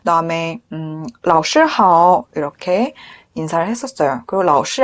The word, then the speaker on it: 老师: 老师, 이것도 중간 글자가 일성이네요. 老师好. 네, 일성 정확하게 해주시면 좋겠습니다.